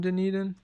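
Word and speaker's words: Dunedin: the 3DS I think the bats are from denan at least I know how to say it now no the bats are oh yeah the bats from New Zealand are also from denan I think oh they're from Christ Church New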